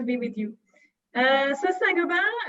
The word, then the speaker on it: Saint-Gobain: with you uh so sargoban i'll pronounce with the french ways nagoba is a worldwide leader